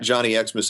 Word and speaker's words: Johnny Xmas: I'm at Johnny Xmas on Twitter, but it's spelled all leet.